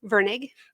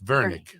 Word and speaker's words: Virnig: her name is Bianca veg right did I pronounce that right Vern Vern yep not ver it's Vernick okay the normal pronunciation silly me um she